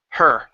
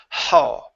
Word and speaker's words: her: better that's better it's more more of an emphasis on that are instead of haw okay good good job